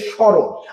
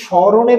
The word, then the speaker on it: স্মরণ: তারপরে দেখেন স্রণ। আমরা কি স্মরণের উচ্চারণ করি? স্মরণ বলি না সমরণ বলি।